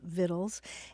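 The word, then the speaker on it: victuals: Journey with Recipes and it's spelled V I C T U A Ls Viddles and it's a love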